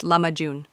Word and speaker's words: lahmacun: Turkish pizza is the popular name for a dish more accurately known as lahmacun, pronounced lahmacun.